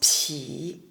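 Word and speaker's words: 脾: En chinois, la hâte se prononce pi.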